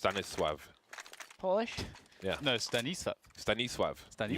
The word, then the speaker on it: Stanisław: His name is actually pronounced Stanisław.